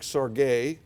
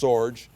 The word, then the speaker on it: Sorge: it was put under the charge of Frederick Sorge is how it's actually pronounced Sorge in English he is the the grand Uncle